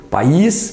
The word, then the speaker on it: país: Ah qual é a vogal tônica desta primeira um país olha lá um país se faz com homens e livros e aqui qual é a vogal tônica os bons exemplos dos Pais é o a perceberam a diferença na vogal tônica tanto que na pronúncia a gente ouve país pais as palavras são diferentes